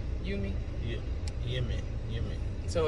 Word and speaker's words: Yumi: eating at yumi yummy what do you think it's called you me yeah yeah yeah so